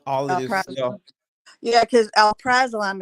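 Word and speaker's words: alprazolam: of this yeah because Al praam is how you pronounce it Al praam is generic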